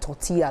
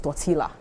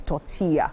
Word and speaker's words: tortilla: used to think that when you see that tortilla, like the double L, you probably think it's tortilla. Yeah. Until they started correcting like that, but not pronounced. Not pronounced like that. So, it's tortilla.